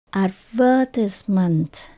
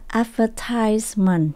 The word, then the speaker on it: advertisement: có hai cách đọc nếu mà mình đọc theo giọng Anh mình đọc là advertisement chúng ta nhấn âm số hai advertisement Còn nếu chúng ta đọc theo giọng Mỹ mình đọc là advertisement chúng là những âm số ba advertisement advertisement và những